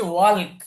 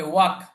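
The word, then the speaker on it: walk: ওয়াক এখানে খেয়াল করুন শব্দটা দেখে মনে হচ্ছে ওয়ালক আছে মাঝখানে কিন্তু এটার উচ্চারণ কি হবে ওয়াক ওয়ালক হবে না ওয়াক I will ওয়াক sometime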